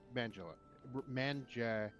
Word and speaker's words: Manganiello: Yeah, Neon Celine, it's Manganiello.